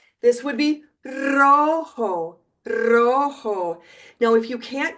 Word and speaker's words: rojo: But I just wanted you to know that any time in Spanish, a word starts with an R, I represent it with two R's, so you know that you trill it. This would be rojo, rojo.